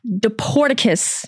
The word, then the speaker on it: Dporticus: I am here with fellow creator, wrestling fan, Deporticus. Did I say it right? You absolutely did.